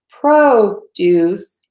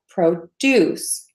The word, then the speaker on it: produce: be longer okay so I'm going to contrast those 40s we have produce and then we have produce produce produce so you can hear there that one syllable gets longer and one syllable gets shorter my students who speak